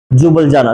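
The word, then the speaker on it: Ljubljana: silent है jubilee jubilee ये क्या है एल वो होगा एल नहीं प्रोनाउंस करेंगे हां जुबल जाना जुबलजाना जुबल जाना नहीं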